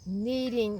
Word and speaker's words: kneading: bowl and knead it it's called kneading like you need bread it's spelled k n a kneading it and that